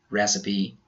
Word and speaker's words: recipe: Some other words we pronounce the final E are recipe, acne, and Nike.